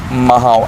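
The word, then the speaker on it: Mhow: institutions like Siachen Battle School and Infantry School Mahao. Am I pronouncing it? Yeah, it's Mao.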